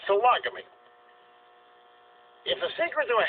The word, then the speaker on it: sologamy: it's called sologamy sologamy I wanted to pronounce it solo to get people to word to root sologamy it's sologamy if the secret to